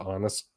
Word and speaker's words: Agnes: Honest, flip's sake, it's Agnes, but they pronounce it Honest.